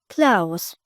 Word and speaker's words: Klaus: Ele pronunciou do jeito alemão. Klaus.